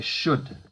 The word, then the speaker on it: should: So the first thing to mention is that the L in should is silent. So we say should.